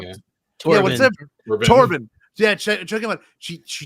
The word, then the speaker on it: Torbin: choking out um uh to what's his name Tobin did I say it wrong yeah torbin yeah check about she she did something into